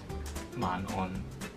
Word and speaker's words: 晚安: like the proper way to say it is 晚安晚安 Yeah、 So 晚安 or 早頭 Yeah Excuse me.